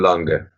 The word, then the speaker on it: Lange: Benjamin Lange. I'm pronouncing it the German way.